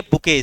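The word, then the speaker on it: bouquet: लिखा बुकेट जाता है, पढ़ा बुके जाता है।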